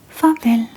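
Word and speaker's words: farvel: So f a r v e l fav and it means make sure to write the translation down so you can remember goodbye.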